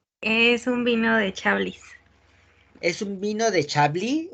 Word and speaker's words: Chablis: ¿Es Chablis o Chablis? Chablis. Recuerden que la Chablis. T, la E y la S al final de todas las palabras francesas no se pronuncia.